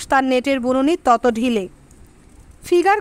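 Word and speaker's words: figure: নেটের বুননি তত ঢিলে ফিগার কথাটার ফরাসি উচ্চারণ ফিগুর অর্থ মুখের চেহারা ফরাসি অধ্যাপক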